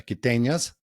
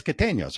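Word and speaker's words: Quiteños: and just fell in love with the the Kitanas and just Ecuador as a whole. Did I say it right? It's Katenos, right?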